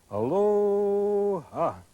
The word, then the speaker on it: Aloha: And everybody who goes to Hawaii has to learn how to say it like the Hawaiians say it. Aloha.